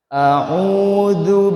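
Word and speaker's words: أعوذ: Pakai huruf ain ya Pak. Jangan pakai huruf alif, bukan au, tapi au. Di mana Ustadz huruf ain itu? Ada di tenggorokan ya Pak. Dan jangan masuk ke hidung. Bukan au Pak. Bukan a'udzu billah, bukan. Jadi jangan pakai alif Pak ya, huruf ain Pak. Jangan sama seperti huruf alif Pak ya.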